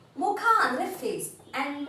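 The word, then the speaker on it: ಮುಖ: ising okay next is Muka Muka and face and make sure when you pronounce Ka needs to be stressed press Muka Muki wash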